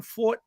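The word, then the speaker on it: Forte: Horse shipping for the first time, weather, et cetera, et cetera. But, no excuse. I wasn't big on Fort, I guess it's pronounced.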